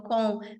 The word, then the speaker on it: ces: E a gente tem o C, que se escreve C-E-S, e a gente vai